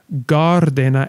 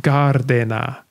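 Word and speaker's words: Gār-Dena: the answer is actually gardena and even though the two words don't sound like they start with the same sound to us after all one is g and one is ya gardena in the old english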